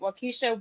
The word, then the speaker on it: Waukesha: Davis Park in Waukesha, I believe that's how you say it, Waukesha, Wisconsin, Yes, attempting to, I think Drake made a song with Waukesha in it.